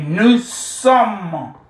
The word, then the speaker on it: nous sommes: Okay, nous sommes. The S is silent. Just like the T here is silent.